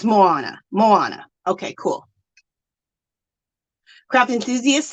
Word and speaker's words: Moana: is is showing me how to say it Mo ah nah so it's Moana Moana okay cool craft